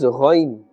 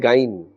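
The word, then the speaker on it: غين: Remember that this ghain, do not pronounce it as gain or ghain. It must have a fuller sound and it must be pronounced in that manner.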